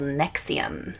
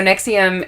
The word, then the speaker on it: NXIVM: It's pronounced the same, but it's not spelled the same.